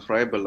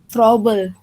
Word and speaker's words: Froebel: Bacanya bukan Froebel, tapi Froebel.